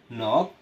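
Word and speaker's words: knock: অনুরূপভাবে নন নুন এখানেও কিন্তু আমাদের কেউ এর উচ্চারণ হয়নি পরিচিত নাইফ ছুরি নক করানাড়া নি হাটু নীল হাটু গেরে বসা নিট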